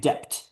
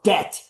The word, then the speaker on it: debt: Like, so that guy mispronouncing a word just kept saying depped. You know, he had a Mexican background. Depth. Depth. It's like, bro, it's debt. The B is silent in English.